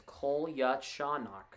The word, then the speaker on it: Kolyachonok: They're calling him Vladdy because they don't know how to say his last name. It's Kolyachonok.